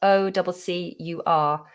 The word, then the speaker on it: occur: So the word occur, spelled O-C-C-U-R. If something occurs, then it happens or it appears. Occur. In a sentence, it would definitely begin with a schwa.